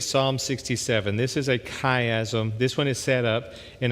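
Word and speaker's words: chiasm: kaym one more time c h i a m pronounced kaym so what you're going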